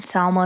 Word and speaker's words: Salma: Yeah, Selma. I always say your name wrong. It's It's fine. Salma. Salma. Whatever you want to say.